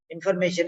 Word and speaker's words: information: It is not son. It is a shan. Sha. Sha. Shan. Remember that. It is shan.